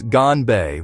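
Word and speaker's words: 干杯: Pronounce it as ganbe with flat even tones.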